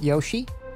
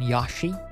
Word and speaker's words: Yoshi: yashi is more Japanese I think yashi is technically correct but in English I feel like most people say Yoshi Yoshi Etc okay so something is still bad yeah say it with a long o Yoshi Yoshi yeah I think I think that's the most common English pronunciation isn't it Yoshi rather than yashi but yashi is probably more Japanese yashi okay so this is